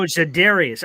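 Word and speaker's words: Za'Darius: Zadarius Smith. Oh, Zadarius. I kept hearing Larius in my I'm like, "Who the hell is Learius?" Zidaria, you said it right. My brain didn't hear it. Zidarius. Yes. Yes.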